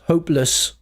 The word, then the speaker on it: hopeless: Notice the pronunciation lus not less because it's not stressed. So it's l hopeless.